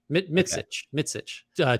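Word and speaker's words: Mićić: It's like Mitsic is the way it was phonetically pronounced, but I'm not. I'm gonna say Micic, like Micic. Yeah, right. Mitsich.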